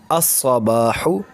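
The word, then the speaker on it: الصباح: Another example is al sabahun, al sabahun equals to as-sabahu, as-sabahu. So here the lam becomes silent.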